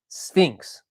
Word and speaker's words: SFINCS: Mike says SFINCS is pronounced Sphinx.